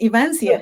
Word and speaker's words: Evancia: So, Evancia, did I say that? Pronounce it right? Yes, Evancia.